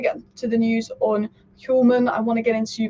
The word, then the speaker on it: Hjulmand: It's really weird, those Danish names, because there's a D at the end of Hjulmand. You'd think it's Hjulmand, but it's actually Hjulmand, isn't it?